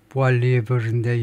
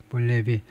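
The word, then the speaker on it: Poilievre: 조금 뒤처지든가 지금 그렇게 하고 있는데 just 2 months ago 불과 2달 전에 비엘 볼리에브 이 발음은 완전히 프랑스식인데요. 프랑스 사람의 이름인데 프랑스식으로는 이제 보알리에브인데 영어식 발음으로는 볼리에비 제가 발음표를 아예 뒤에다 써놨는데 그때 다시 한번 제가 이야기하겠습니다.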